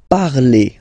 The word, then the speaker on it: parlez: Let's see now for vous, vous parlez, okay? Remember, a Z, when you combine them together, you get the sound E. Vous parlez, all right?